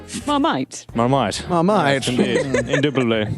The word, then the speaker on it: Marmite: Why did you Marmalade. pronounce it like that? Marmite.